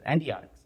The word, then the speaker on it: Endiatx: Well, first of all, you're one of few people that knows how to pronounce it the way we would intend you to Endiatx.